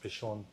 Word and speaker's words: Pishon: they don't see the they don't know the difference between a seen and sheen in Hebrew kind of like nasa and na yeah exactly okay so it's supposed to be pronounced pishon so if you guys